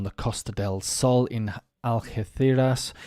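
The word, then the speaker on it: Algeciras: Costa Del Sol in algeethiras if I got that uh pronounced correctly but in English of course of course we'll say algaciras or something um a man injured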